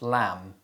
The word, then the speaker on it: lamb: such as det and lamb the letter b is often silent when it appears before the letter t and after the letter m usually at the end of words other common examples include